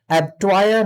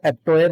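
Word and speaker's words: abattoir: एब्ट्वायर होता है, इसको ज्यादातर लोग एब्टोयर बोलते हैं, बट the real pronunciation is एब्ट्वायर।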